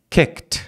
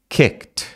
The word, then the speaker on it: kicked: termina em k então Kick vira kicked Kick kicked som de T kicked Arm entra no m então